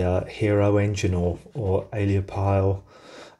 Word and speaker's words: aeolipile: hero engine or or aliapile um eolib pile that's how you pronounce it I think please correct me